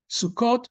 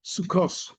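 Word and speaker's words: סוכות: So the big giveaway between Ashkenazic and Sephardic Hebrew is how words that end with this letter are pronounced. Shabbat or Shabbos or Shabbos. Sukkot, Sukkos. Well, they never pronounce that way. It's usually Sukkos.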